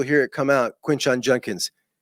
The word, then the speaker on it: Judkins: And the number of times you will hear it come out, Quinshon Judkins. You hear that Judkins with an N? It's unbelievable. We cannot say this simple 2-syllable last name.